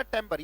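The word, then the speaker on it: timbre: आपके लिए ये प्रोनाउंसिएशन भी बहुत, जैसे ही पता लग गया उसको हमने जान लिया कि अगर ई आर है तो वो टिम्बर पढ़ा जाता है, आर ये तो टेम्बर पढ़ा जाता है।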